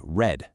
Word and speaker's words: read: In the past, you say read, like the color.